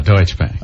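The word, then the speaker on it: Deutsche Bank: another company I'm going to screw up the pronunciation deoe and TSH deuts deutche Bank deut bank ah there you go deuts Bank um there's a number here it's a local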